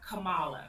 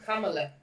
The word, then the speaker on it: Kamala: My point is that you asked a question about Kamala.